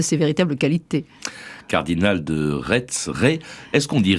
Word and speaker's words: Retz: Est-ce qu'on dit Rais ou Retz? Parce que ça s'écrit R-E-T-Z. Oui, ça s'écrit R-E-T-Z, comme le pays de Rais au sud de Nantes, d'où d'ailleurs il tire son nom, mais là-bas on prononce Rais. Alors lui-même, à la fin de sa vie, écrivait R-A-I-S, donc je pense qu'il faut se plier à la coutume.